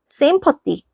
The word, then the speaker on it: sympathy: 자, 이것도 그냥 쉬워요. sympathy. 그러니까 기본적으로 뜨 발음이 있는 거야.